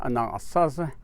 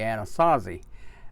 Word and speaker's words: Anasazi: originally and those people we refer to as a non saucer or with the english-speaking tongue you would say Anasazi and those are the people that gave the